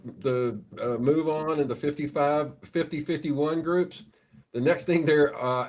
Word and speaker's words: 50501: it's 50-51 is the way it's supposed to be pronounced.